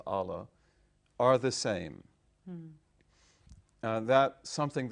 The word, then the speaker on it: Allah: And I said, first of all, you learned that God and Allah, or Allah, but we pronounce it as Allah, are the same.